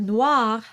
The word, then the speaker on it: noir: lips darja Ave so the word Noir has an r that you have to roll at the end to really pronounce correctly and pronounce that r